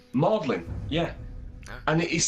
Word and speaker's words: Magdalen: Now it's Magdalen, yeah, Yeah. and it is spelt Magdalene, as in Mary Magdalene.